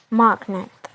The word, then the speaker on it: magnet: for example we have magnet as a stem the stress is on M magnet and then we add